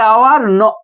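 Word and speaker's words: hour: তাহলে এখানে কি এ আওয়ার অ্যান আওয়ার হবে?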